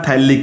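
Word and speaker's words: phthalic: इसका एक और नाम भी होता है, इसका कॉमन नाम होता है थैलिक एसिड। इसका नाम क्या होता है, थैलिक एसिड होता है। पी साइलेंट है, PTHALIC।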